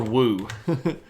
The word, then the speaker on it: Wu: Emperor Hu again? This was Emperor Wu. Spelled like so.